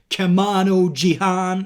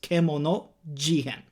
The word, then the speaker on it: Kemono Jihen: than kemono jihan now some people are literally pronouncing it wrong like kamano jihan no it is kemono jihan now and this means